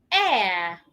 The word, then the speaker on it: heir: heir I'm the heir country I love my country. How many of them did you pronounce correctly?